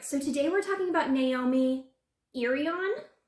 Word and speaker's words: Naomi Irion: today we're talking about naomi irion i think is how you pronounce that now she is missing